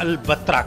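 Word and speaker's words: البتراء: प्राचीन और पुरातात्विक शहर जिसे अरबी उच्चारण में पिटारा या albatra कहा जाता है कई लोग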